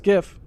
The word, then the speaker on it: GIF: gif the wrong way but it's gif with a hard g i'm sorry it's good